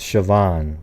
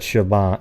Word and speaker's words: Siobhan: look like it yeah I just told you it's sioban there's nobody in this chat would have said Shaban shoban when it's s i o b